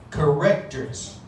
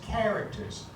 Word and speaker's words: characters: i've heard many people say this word is correctors or characters or something like that and i wanted to tell you that's not the right pronunciation it's characters just so you know characters sounds very different